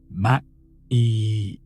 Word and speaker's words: Maat: As the practitioner breathed deeply, they pronounced MAAT slowly and drawn out. Ma-e. The vibration of the sound was meant to resonate in the chest, as if every letter echoed not just in the throat, but in every organ,